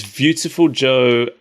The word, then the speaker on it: Viewtiful Joe: Joe out of universe because in Japan beautiful and beautiful are pronounced identically and you're like viewing him because he's in a movie I guess that's a stretch but I believe it cuz they pronounce V's as B's in in Japanese generally don't they yeah